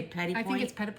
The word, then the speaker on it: petit point: But you say petit point.